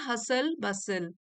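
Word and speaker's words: hustle bustle: The constant हसल बसल, यहाँ T silent है, ये वाला टी और ये वाला टी।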